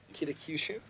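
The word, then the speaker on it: Kaohsiung: Warsaw Oakland Zack how do you say that kakushu kakushu i'll say to the mic this time and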